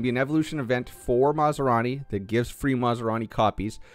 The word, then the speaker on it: Masrani: Masrani? Masrani, yes, I said it right.